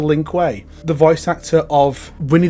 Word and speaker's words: Lin Kuei: He also gave us great things like the Ling Q as a pronunciation for Lin Kuei.